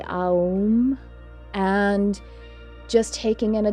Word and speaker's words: Om: to that's the holy ohm when it's pronounced on its own it's usually um and just taking in